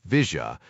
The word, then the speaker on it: villa: The villa Argentines pronounced it Vija was a gray swath of nothingness next to the tracks on most maps.